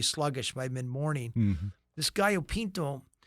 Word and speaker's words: gallo pinto: Yeah, I think you say that they have the healthiest breakfast in the world, something called, I hope I have this pronounced right, gallo pinto?